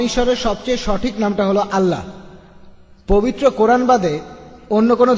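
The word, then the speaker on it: الله: তারা বলে এলা, আমরা বলি আল্লাহ।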